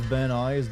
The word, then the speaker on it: Van Nuys: Pronounced Van Nuys.